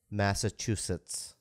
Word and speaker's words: Massachusetts: Massachusetts. Yes, you got it. Mitt Romney couldn't pronounce it.